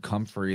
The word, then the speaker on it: comfrey: So I think in the word comfrey, there's a lot of interesting phonetics with fray, because we're saying free, they were pronouncing it like free, but it's spelled fray.